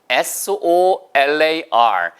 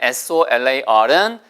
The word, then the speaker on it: solar: SOLAR. 달러는 뭐 기본 단어고요. 그 다음에 SOLAR은 이거는 중급 정도의 단어입니다. 그래서 우리가 보통은 상표로도 많이 나와서 뭐 솔라 그러는데 그게 아니고요.